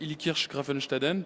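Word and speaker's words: Illkirch-Graffenstaden: Bien, alors merci, félicitations, vous avez bien prononcé Ilkirch Grafenstaden.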